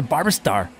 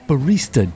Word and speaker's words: barista: Well, I just asked out the barber star, and she slapped me. It's pronounced barista, Dave. Barista.